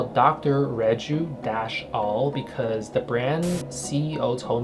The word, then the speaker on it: Rejuall: to pronounce their name, like Reju-All, that's how you pronounce it, they changed the brand name to Reju-All.